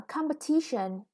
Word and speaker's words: competition: A competition. The competition, the third syllable is stressed, is a long word.